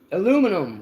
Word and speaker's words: aluminum: Aluminum with a U, sir.